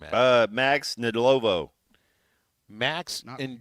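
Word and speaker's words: Ndlovu: Max in Lovu. The D is silent.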